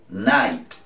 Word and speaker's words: night: como sly en inglés hay entonces decimos nike night si vieron la iss en inglés es a